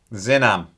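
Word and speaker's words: Xinam: you do uh and x i n a m is pronounced zinam zinam is on um but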